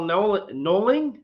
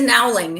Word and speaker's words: Nowling: Okay, we have Michelle Noling. Am I saying it right? Michelle, I just call you Michelle. I've never called you by your last name. That's all right. It is Nowling. It's phonetic.